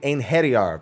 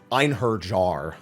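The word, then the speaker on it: Einherjar: this is called the inheriar they pronounce it slightly differently in the trailer but at least no one's calling it einhard jar like I've heard it before uh it basically you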